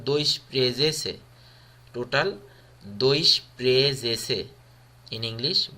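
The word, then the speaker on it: doisprezece: এখানে রোমানিয়ানরা উচ্চারণ করে দই স্প্রে, বাট এখানে অফিসিয়ালি উচ্চারণ হলো দই স্প্রেজেসে.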